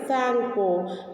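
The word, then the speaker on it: Tsangpo: So here Sangpo. Here pronunciation T is a silent here, so we cannot take a T.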